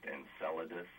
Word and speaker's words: Enceladus: I think it's pronounced Enceladus.